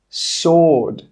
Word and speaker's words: sword: Who, whole, answer, sword, to. In all of these words, we're not pronouncing the W, it's silent.